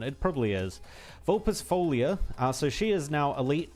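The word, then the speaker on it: Vulpisfoglia: It's pronounced Vulpes Folia. Or Folia. So the L and I are also kind of silent. They're like weirdly mixed together. Oh, Italian, man.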